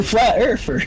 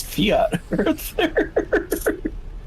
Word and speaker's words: Fiat Earth: It's Fiat Earth. Correct. It's shaped like an Italian sports car.